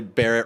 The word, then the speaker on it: Barrett: The thing that started this friendship really, Barrett rhymes with Jarrett, so I gotta stand with him in solidarity and help him out and help out a friend.